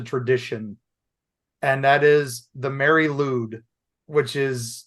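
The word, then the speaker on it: Mari Lwyd: just just a tradition and that is the Mary ludd which is not ludd L ew it's l y a wd thank you Welsh pronunciations and this what is the Mary Lube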